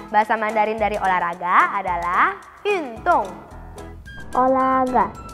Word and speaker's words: 运动: Bahasa Mandarin dari olahraga adalah yun tong. Olahraga, yun tong.